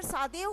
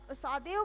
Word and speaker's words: Sadao: ये जो है डॉक्टर सादेव होकी जो थे, इनका स्पेलिंग है सादेव, SADAO।